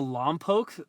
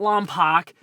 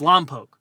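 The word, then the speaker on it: Lompoc: exact number but Vandenburg is right next to Loke California that is the by the way that's how you pronounce it it's not lak it's Loke okay I met the mayor actually it's Loke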